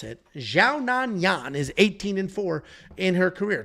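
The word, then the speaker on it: Xiaonan Yan: we have Yan Janan taking on Tabitha RI xiaan Yan is actually how they pronounce it xiaan Yan is 18-4 in her career two and three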